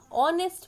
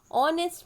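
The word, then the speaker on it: honest: ऑनेस्ट मैन, ठीक है, ऑनेस्ट मैन, इसमें आवर में एच साइलेंट होता है, तो इसको क्या पढ़ते हैं, आवर पढ़ते हैं। उसी तरह से ऑनेस्ट मैन में भी किसकी आवाज़ आ रही है, आ की आवाज़ आ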